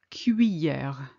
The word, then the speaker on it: cuillère: I know this is difficult to pronounce, but split it in two, cuit and then hier. Imagine the double L is a Y. I don't want to hear any L sound in there.